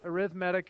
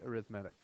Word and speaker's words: arithmetic: arithmetic sequence and yes arithmetic is spelled exactly like arithmetic but for some reason we say arithmetic don't know why go